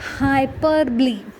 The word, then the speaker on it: hyperbole: Coming to the next figure of speech, that is hyperbole.